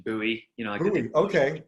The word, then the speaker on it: Buoy: boy right boy well you could pronounce it different ways actually uh you know we've done american pronunciation buoy you know okay right